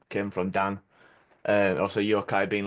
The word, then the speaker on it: Yokai: it's Japanese yok is it that how you pronounce it oh yeah Yokai yeah yoai dude that's that song kicks kicks